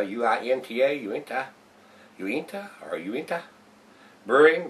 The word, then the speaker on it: Uinta: That's how you spell it, U-I-N-T-A, Uinta.